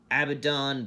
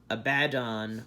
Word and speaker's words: Abaddon: another one this is our abaddon black or a bad on black however you prefer to pronounce it that looks cool